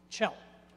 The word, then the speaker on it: Kjell: Chell, by the way, that's spelled K-J-E-L-L. Chell.